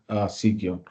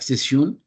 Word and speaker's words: Seceon: for today's business, and it's like pronounced as Seceon because some people maybe think it is like Seceon. No, it's the good pronouncing or the actual pronouncing is Seceon, which is security for ongoings.